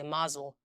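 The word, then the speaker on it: Mosul: in 2014 in the city of musul or As Americans say Maul yeah one of the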